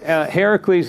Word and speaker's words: Heracles: And so in this book, obviously her last name is, do you pronounce it Hercules, or is it? Well, Heracles is simply the Greek version of Hercules. Hercules is from the Roman.